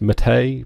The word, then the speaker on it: MATE: I call it Mate because that's how it's spelt in the UK. I know it's supposed to be pronounced Mate, but I'm not saying Mate.